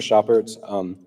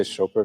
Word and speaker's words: Chopert: Hi, so I'm Mr. Chopert. You can say Chopert if you want. It's Herr Chopert in German, Monsieur Chopert in French, it's fine.